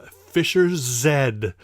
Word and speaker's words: Fischer-Z: have to remember that this is a British band so they pronounce that final letter of the alphabet as Zed us Americans kind of